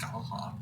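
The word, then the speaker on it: Scáthach: It's spelled SC, abbreviated A, or punctuated A. Yeah, a punctuated A, THACH. It's pronounced Skaha.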